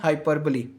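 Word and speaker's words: hyperbole: अगली टाइप की हम बात करें तो अगली टाइप है हमारे पास हाइपरबली। इसको हाइपरबोल नहीं पढ़ना। इसका जो करेक्ट प्रोनाउंसिएशन है वो है हाइपरबली।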